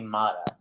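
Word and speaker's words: Motta: photographer no my actual last name is m-o-t-t-a and uh did they change it when they ellis island yeah yes from from italy correct yeah um calabria and uh naples so they they pronounce it but my friends all call me mata so all my college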